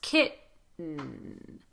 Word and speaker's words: kitten: What you don't want to do here, you don't want to turn these into D. You will hear certain dialects of American English use a D in this situation. So you'll hear button, curtain, kitten.